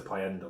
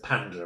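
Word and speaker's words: Pænda: I pronounced it Payenda or something incorrect in my rankings. Kind of, it's Panda apparently, but I think this one's.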